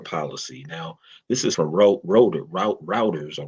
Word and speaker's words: Reuters: Now this is from Routers or Rotors, however you want to Reuters. pronounce it.